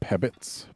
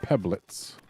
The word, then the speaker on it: pebblets: I've been forgetting that there's an L in there when pronouncing these guys' names recently. Been calling them pebbits, but they are pebblets.